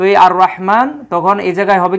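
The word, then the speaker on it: الرحمن: আবার এই জায়গায় দেখুন আর রহমান এই যে আলিফ লামের উচ্চারণ কিন্তু হচ্ছে না কারণ এই র টা হচ্ছে শামসিয়াত এই এটার উপরে আমার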